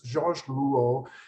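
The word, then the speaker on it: Jacques Lipchitz: Jacques Lipschitz, and it's not pronounced Rouault or anything, it's always difficult to get my students to pronounce it, but Jacques Lipschitz, he didn't like to be photographed.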